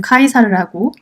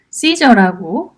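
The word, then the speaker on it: Caesar: 다르게 부르는지 알려드리겠습니다 이제 로마식으로 라틴 표현으로는 카이사르라고 있고요 그 다음에 영어로는 어떻게 이렇게 말하죠 시저라고 하고요 독일에서는 카이저라고 합니다 다 이제 철자는 같습니다 나중에 독일 근대의 황제를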